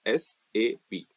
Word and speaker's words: SAP: so we can we we should not pronounce as a sap as a single word we should always pronounce it as s a b okay okay now we